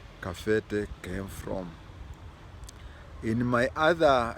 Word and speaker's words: Kabete: But in Kikuyu it is KABETE, but it is pronounced as kafete.